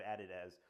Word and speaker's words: Adidas: They'll work at Nike and then they'll go to Adidas or Adidas, depending on how you pronounce it, right?